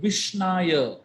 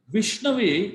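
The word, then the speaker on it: विष्णवे: So here, the word Vishnaya is a wrong way of pronouncing it. But Dhiro vadati Vishnave. Vishnave is the right way of pronouncing it.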